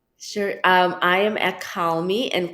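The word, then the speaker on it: Kahlmi: um i am at call me and call me is pronounced just like call me and it's k-a-h-l-m-i dot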